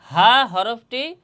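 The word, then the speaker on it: ه: আর এই হাফটি উচ্চারণ হবে হলকের শুরু হতে। হলকের শুরু হতে এই হাটি উচ্চারণ হবে।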